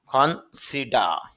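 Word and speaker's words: consider: কিন্তু আইবিতে ডারটা হবে না এজন্য একটু দীর্ঘ উচ্চারণ করব বলব খনসিডা বিবেচনা করা কনসিডারেবল যথেষ্ট গুরুত্বপূর্ণ কনসিডারেবলি যথেষ্ট পরিমাণে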